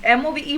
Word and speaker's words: move: MOVE मूव, LOVE लव. देखने में ये राइमिंग वर्ड्स लग रहे हैं, बट when you speak, move and love are not rhyming.